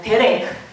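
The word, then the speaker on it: דרך: 도라고 읽어요. 성경에 보면 이 길이라고 하는 말이 참 많이 나오고 있어요. 따라해 보시기 바랍니다. 데레크.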